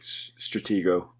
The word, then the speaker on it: Stratego: told eric i think stratego is that how you're supposed to say it yes certainly pronounce the board game i think that should